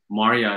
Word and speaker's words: Maria: My friend Maria, Maria John, not Maria, she goes, Maria is the correct pronunciation in Farsi and Pashto.